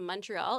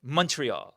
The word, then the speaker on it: Montreal: Montreal. Montreal. Not Montreal. Not Montreal. The stress is on the last syllable.